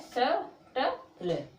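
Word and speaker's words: subtle: में टी आया है, तो बी का जो उच्चारण है वो नहीं करेंगे, बी है वो साइलेंट रहने वाली है। ठीक है, तो क्या है जी, बी साइलेंट है, तो बी जब साइलेंट तो इसको क्या बोलोगे, इसको क्या पढ़ोगे, इसको पढ़ना है, इतने इतने को इतने को, क्या है शटल।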